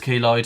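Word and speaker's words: keloid: So yeah, I think it might be kloid, but I'm not sure. Koid. It is kloid. I've just played the pronunciation, but yeah, Kloid.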